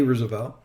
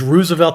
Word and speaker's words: Roosevelt: The man would be Teddy Roosevelt.